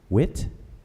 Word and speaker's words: whit: and a couple of pronunciations the word primary pronunciation is wit but it's also sometimes pronounced quit it's a